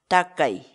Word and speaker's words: takay: série de vídeos onde nós ensinamos você a pronunciar determinadas palavras em quechua portanto a nossa palavra do dia para hoje é tá aí tá aí tá aí em português a palavra